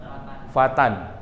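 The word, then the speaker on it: فتًى: Nah, al-fata ini andai kita hapus alif lamnya, bacanya apa jadinya? Enggak boleh bacanya fata. Harusnya fatan.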